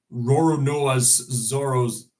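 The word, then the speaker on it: Roronoa Zoro: to pronounce that again Assassin's Creed Shadows has roron NOA Zoros no that's how you pronounce it roron noaz zoro's sword is in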